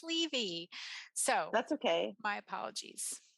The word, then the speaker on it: Levy: absolutely my pleasure and I realize I mispronounced your name it's Levy so that's okay my